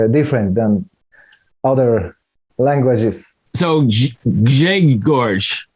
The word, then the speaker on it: Grzegorz: My first name is Grzegorz, and RZ is Z in Polish.